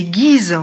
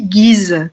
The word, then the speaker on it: Ghys: Et on dit Guise, comme le duc de Guise.